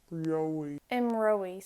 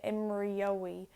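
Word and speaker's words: imreoidh: Imrowy. So we don't pronounce it with the Y like I did before because it's too difficult. It clashes with the or. You can't say imriowy.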